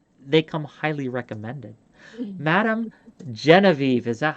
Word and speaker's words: Genevieve: Madam Genevieve, is that how you say it?